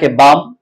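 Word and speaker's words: balm: जो कॉमिनेशन है वो जब एल और एम इक आ जाए व के आखिर में तो फिर एल जो है वो साइलेंट बन जाता है बाम पाम ये आप देख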